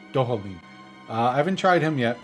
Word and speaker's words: Dohalim: Dahalim? Dohalim. Dohalim.